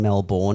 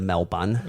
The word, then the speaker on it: Melbourne: Also, while we're on it, can we please start saying Melbourne instead of Melbourne, which is like we pronounce our own city.